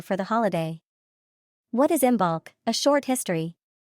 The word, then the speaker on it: Imbolc: the holiday what is imul a short history you might know imul by other names including imog I a more accurate Gaelic imul pronunciation and Bridget's day we will